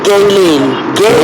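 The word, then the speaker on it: Ghislaine: Her name is Galen. Not Galen. It's not Galen. That's even worse. It's Galen.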